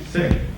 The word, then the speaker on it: Sikh: Just as an aside, I went online today, and there's a whole debate about whether it's Sikh or Sikh. But somebody actually went to like the World Sikh Association to confirm that it's pronounced Sikh.